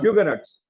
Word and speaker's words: Huguenots: of the persecution of the, how do you pronounce this? Huguenots.